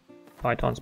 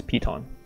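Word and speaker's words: piton: sorry not python sorry someone corrected me pronunciation is Pon so it should be called Pon my mistake and I'm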